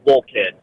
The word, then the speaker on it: Wolcott: So it's pronounced Wolcott. Wolcott. Wolcott. Wolcott. Wolcott. With a hard T.